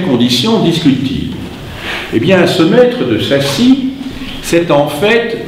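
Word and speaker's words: Maistre: le maître, c'est le mestre, si vous voulez, en 2 mots, le mestre, le maître, puisque le S, il n'y a pas besoin de le prononcer, hein, ça fait un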